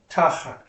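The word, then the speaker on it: תחת: Accents on the first syllable. Tachat.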